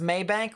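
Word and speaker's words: Mabank: about that um huh it's pronounced maybank well i appreciate the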